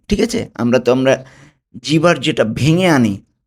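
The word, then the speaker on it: vu: টি কে উচ্চারণ করব বাংলায় হলো তয়র শিকার তি। তি, নট টি। ঠিক আছে? আমরা জিভার যেটা ভেঙে আনি টি, ওইটা হবে না।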